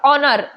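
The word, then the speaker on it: honour: देगा तो एन आएगा ओनर ओनर होता है होनर नहीं होता ओनर होता है एच साइलेंट रहता है तो यहां पर हम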